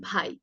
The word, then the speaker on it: ভাই: এই এলাকার কথা বলি, এখানে হচ্ছে ভাইয়ের উচ্চারণটা অনেকটা আমরা স্বাভাবিকভাবে প্রচলিত ভাষায় এই এলাকাগুলোতে অনেকে বলেন বাই। বাই ভালো আছেন, আসলে উচ্চারণ হবে ভাই ভালো আছেন, এইভাবে।